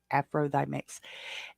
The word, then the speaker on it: AFROTHYMIX: And if you pronounce it out, it says Afro the Mix, Thigh Mix, THY, Afro Thigh Mix.